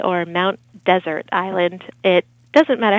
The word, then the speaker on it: Mount Desert Island: there's one s but it was named by the French hence the the pronunciation yeah well that's interesting